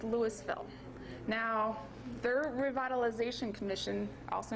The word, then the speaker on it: Louisville: of recent developments this this isn't pronounced Louisville it's Louisville now their revitalization commission